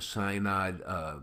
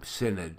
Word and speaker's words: synod: cyanide Synod excuse me I keep on wanting to say it the way it's the way it looks you know sy it's pronounced sin sin sin need say need an ID no it's n OD it sounds like sin nod to me but I don't